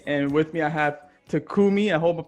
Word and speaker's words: Takumi: new aspiring agent and with me i have takumi i hope of pronouncing that right yeah i have takumi with